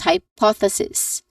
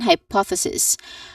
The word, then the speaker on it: hypothesis: Following this is sis. Again sis which is just very simple. It uses a short e vowel sound. Before and after it is just a hissing sound.